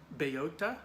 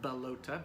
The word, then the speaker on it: Bellota: this planet they're on which is called bayota or balota b-e-l-l-o-t-a I'll explain why I think it's pronounced bayota in a bit he thinks this is